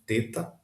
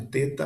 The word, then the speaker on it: teta: O nome é, você pode chamar de teta, mas a pronúncia correta seria o th do inglês e como em think ou thank you ou então with, né? Esse som aveludado com a a língua entre os dentes.